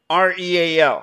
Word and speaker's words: real: Real has two syllables.